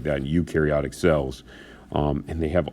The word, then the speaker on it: eukaryotic: you pronounce this as you karyotic e u is you like y-o-u you pronounce it like that eukaryotic cells um and they